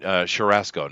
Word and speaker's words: churrasco: Talking about Brazilian churrasco. Now, do I pronounce this correctly, Ghost?